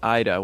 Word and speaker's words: Ida: can imagine people saying ida when i first saw it i i thought it was ida as well yeah because in italian i is pronounced as e that's why i know